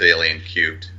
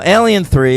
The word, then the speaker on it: Alien 3: cubed that's right yeah no Alien 3 is how you're supposed to pronounce it even though it's got that tiny little three up there like it's alien to the third power yeah and uh this